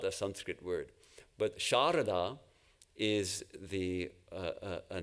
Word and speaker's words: Sarada: So she is Sharada, but it's now written as Sarada, which is pronounced in Bengali Sharada anyway.